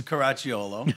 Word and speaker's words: Caracciolo: Excited, Charles, because I cannot pronounce it. Charles, tell us your name. It's Caracciolo.